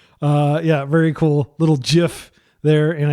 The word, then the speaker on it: GIF: Uh, yeah, very cool little gif there. And I did pronounce it with a hard J because that's what the creator says.